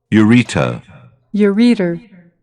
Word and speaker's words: ureter: Ureter. Ureter, sorry. So, ureter. Ureter. Nhấn âm hai, ureter. I thought it was urethra, yeah, but it's actually second syllable.